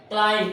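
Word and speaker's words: climb: देखिए क्लाइम, क्या लिखा है, क्लाइम, इसमें बी क्लाइम नहीं बोलेंगे, क्लाइम में यहाँ पर क्या है, बी साइलेंट है, एम के बाद बी क्या होता है, साइलेंट होता है।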